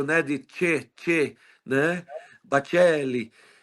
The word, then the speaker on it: Baccelli: Mas a pronúncia é Bacelli, igual de um É ator com dois antigo, Cs e dois Carlos L's, né?